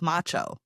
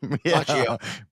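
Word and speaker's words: Macchio: A young Ralph Macho. Uhhuh. Yeah. Yeah, I've gotten that before. Did I say it wrong? Machio. Machio. Machio.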